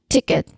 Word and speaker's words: ticket: Again, ticket. So the rhythm of the word is stressed and then unstressed.